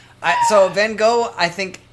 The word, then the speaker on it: Van Gogh: Or Van Gogh, as you weird Brits pronounce it. Van Gogh, I like because...